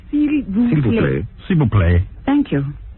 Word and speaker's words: s'il vous plaît: Silver plate. S'il vous plaît.